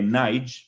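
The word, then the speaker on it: Nagy: de la Hungría comunista imre nig se escribe nagi porque los húngaros pronuncian la griga antes de la G imren ig trató de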